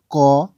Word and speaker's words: কৃ: ব্যঞ্জন বর্ণ লিখে নিই যেকোনো যেমন আমি লিখছি ক ম দ প গ ত ব ন এবং